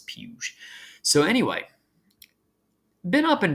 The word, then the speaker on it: Puig: David puge real quick I do believe it's pronounced puge when I first saw it I wanted to say it like Puig like yes Yelp weed but I've been told it's peuge so anyway been up and down on live